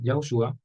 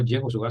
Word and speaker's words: Yahushua: Asimismo, para el nombre de Yahushua es Yod-Hei, que es el nombre del Eterno. Se pronuncia no Yehoshua, sino Yahushua, sombra profética del nombre que llevaría a nuestro Mashiach.